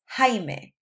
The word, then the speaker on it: Jaime: For example, my dad's name in Spanish is Jaime. It's spelled J-A-I-M-E. So when you see a J in Spanish, it's actually pronounced like an H sound.